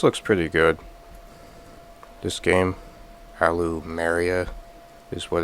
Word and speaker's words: Allumeria: This game, Aloo Maria is what it's called. I sometimes I keep interally mispronouncing it as like alumiiera but it's pronounced alumia I assume this does kind of like resemble